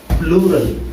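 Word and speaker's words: plural: हैं प्लूरल या फिर पुरलर बोल देते हैं, ऐसे बोल देते हैं पुरलर। व्हाट इज दिस पुरलर, नोट आपको प्रोनाउंसिएशन भी आपको ध्यान में रखनी है, नॉट पुरलर बट प्लूरल।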